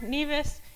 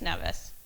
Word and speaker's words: Nevis: They pronounce there NEAS and here it's Nevice.